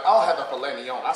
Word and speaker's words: filet mignon: My friend's like, I'll have the filet mignon. I said, shit, filet mignon? There's a silent T in that bitch.